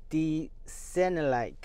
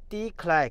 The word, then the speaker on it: D-Cinelike: 模式从普通调到了 D-Sennelike，我读错了，我的文盲读错了，我读成了 D-Click 了，那个是什么鬼？